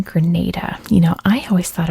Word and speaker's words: Grenada: they called it granada but um it is pronounced grenada um and actually the island went by quite